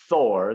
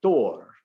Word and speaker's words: Thor: way, a hypothetical language, Proto-Germanic follows the more Germanic pronunciation of the TH, which is halfway between a T and a D, which is why the Germans don't call him Thor, they call him Thor.